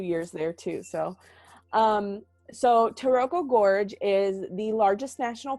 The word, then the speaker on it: Taroko: The main thing to do on the East Coast is called Taroko Gorge. They don't say it like that. They say Taroko.